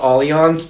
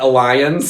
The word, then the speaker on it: Allianz: Have you seen the billboards where they phonetically spell out Allianz because everyone pronounces it Alliance?